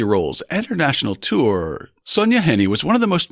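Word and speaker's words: Sonja Henie: unfamiliar names and words Hint it rhymes with Penny not shiny so on the night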